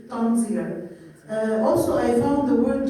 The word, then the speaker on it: tanzir: So in the writing in the body of my study, I prefer to use the word tanzir to have it in Arabic pronounced in English, tanzir.